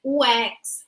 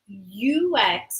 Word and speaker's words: UX: Brazil I sometimes see people saying wax but it's not Ox it's ux okay so in English you say ux right user experience is